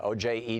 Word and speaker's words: Ojeda: here you said that Ojeda as fire in his belly who's that yes Richard Richard Jetta Oh Jenna Oh je da da so he's anglicized his pronunciation yeah he ran for